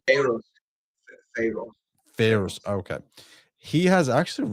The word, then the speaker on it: Ferrus: But but but Father Fenris, first of all, am I pronouncing his name right? I feel like I'm not pronouncing his name right. Pharaoh. Pharaoh. Ferrus.